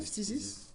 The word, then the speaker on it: Phthisis: Phthisis. Physis. Il n'y a pas de i après le Non mais th. c'est le mot existe en français. Hein. Ouais, C'est Physis.